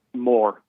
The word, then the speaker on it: Moors: How do you pronounce that? M O R S. Anyway, Moors. more. Okay. More as in I want more.